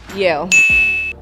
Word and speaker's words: Yale: Yale. Rhymes with Dale.